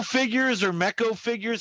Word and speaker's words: NECA: Miko figures or Meko figures. How do you say those? Oh, Neko. Or Neko? NECA.